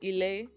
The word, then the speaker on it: Ilé: If she um and I am the founder of Ela, that's how you say it, which is Euroba for home.